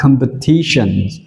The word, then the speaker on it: competition: Giống như là hôm trước đuôi E, O, N, chúng ta đọc là shen, đúng không ạ? T, trọng âm là T, và chúng ta đọc là competitions.